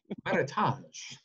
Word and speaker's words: Meritage: Yeah, but you just said it right again. Meritage.